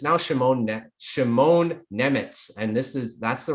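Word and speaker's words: Šimon Nemec: It's now Shimon Nemitz, and that's the right pronunciation according to Elite Prospects.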